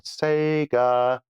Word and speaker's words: Sega: Okay, Bajako says, copies of Oh Mummy for the Tatung Einstein, MSX, and Sega Mega Drive. No, that's not how you pronounce it. It's Sega. He's making a...